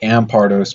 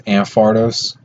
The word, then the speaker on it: Ampharos: MFR dose already rampardos it's technically am Pardo's because it comes from the amp like the word amp so I guess you pronounce the pee a lot of times I'll pronounce it without saying the P and it just comes out as ampharos or something like that